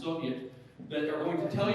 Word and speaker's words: Soviet: know experts who form a council which in russian is pronounced soviet that they're going to